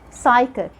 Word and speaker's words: psychic: Like when you say psychology, psychiatrist, psychic. Letter S. Letter S is silent in some of the most common words that I'm sure that you know.